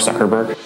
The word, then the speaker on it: Zuckerberg: It's Mark Zuckerberg.